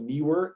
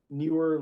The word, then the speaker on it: Neewer: If you're not opposed to buying Chinese made goods, there's a great brand called Neewer, N-E-E. I'll spell it for you.